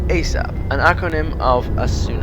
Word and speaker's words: ASAP: to answer a question asap pronounced asap an acronym of as